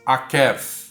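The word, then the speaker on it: עָקֵב: O leitor atento já deve ter percebido que, apesar de calcanhar pronunciar-se akev e a raiz do verbo enganar pronunciar-se akav, o fato do hebraico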